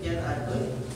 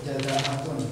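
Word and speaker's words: جذعة: Itu jan atun atau jin atun atau fi ihta wa sitina jan atun. Dibacanya jan atun. jangan ada jazaatun maksudnya. Harusnya dibacanya jazaatun.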